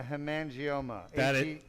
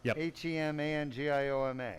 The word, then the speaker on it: hemangioma: Henry has mispronounced it but I believe I'm mispronouncing it it may be a Hemangioma correct h-e-m-a-n-g-i-o-m-a correct so Hemangioma is a like a blood